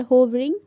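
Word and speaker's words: hovering: इसे आप दो तरीके से प्रोनाउंस कर सकते हैं। होवरिंग भी बोल सकते हैं और हावरिंग भी बोल सकते हैं।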